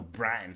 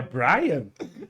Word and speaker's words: Bram: Baseada ali no Bram Stoker, né? É Brian? Bram.